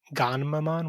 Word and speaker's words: Gammamon: logically and rationally, that Gamma in Japanese is not spelled like it's pronounced in English, but hearing them say Ganmamon with an N is definitely weird.